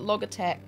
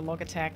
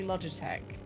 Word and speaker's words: Logitech: gets my ass for using the hard G for log te it's I I know it's supposed to be Logitech but I just started